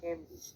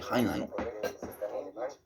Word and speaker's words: Heimlich: De Heinlein. Yo de Heinrich.